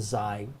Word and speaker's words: xi: But just be able to recognize that as a xi, pronounced kind of with a Z sound.